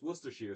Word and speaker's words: Worcestershire: If you say Worcestershire or something weird, you're not saying it correctly. It's Worcestershire.